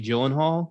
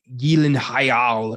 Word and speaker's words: Gyllenhaal: Apparently, Jake and Maggie Gyllenhaal, their name is pronounced like Gyllenhaal or some crazy Swedish pronunciation that we've all just ignored.